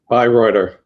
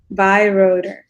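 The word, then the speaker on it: Beyreuther: How you pronounce his last name? Bayreuther. Bayreuther.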